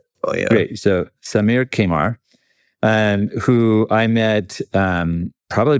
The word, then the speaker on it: Qamar: I actually didn't ask you how to say your name right, but No, that's pronounced Kaymar. Kamar is fine. Great. So, Samir Kaymar.